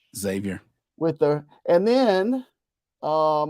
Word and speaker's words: Xavier: starts February 16th versus Xavier that X is pronounced like a z Xavier with the and then